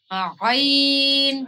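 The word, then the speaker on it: عين: জা জ এরপরে হচ্ছে আইন আইন আইন আইন আইন আইন শব্দটা মূলত সবগুলার তুলনায় একটু কঠিন কারণ আমাদের যেখানে জিবলার শুরু মানে যে গলার ভাজ এইখানে ঢেউ খেলাইয়া তারপরে আইন শব্দটা উচ্চারণ করতে হবে ঠিক আছে এই ভিতর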